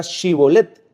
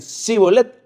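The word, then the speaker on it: שיבולת: que no le decían a ver pronunciar la palabra shibolet y como los efros no podían pronunciar esa palabra decían c bolet ahí mismo los degollaban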